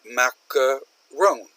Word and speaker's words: macaron: This is a macaron. Macaron. So notice it's similar here, except it's 3 syllables.